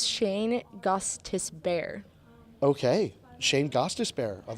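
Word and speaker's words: Gostisbehere: Gustus Kostas be here actually let's try Shane gosta Bay let's let's try something totally ridiculous I've actually pretty close it's Shane Gustus bear okay Shane Costas bear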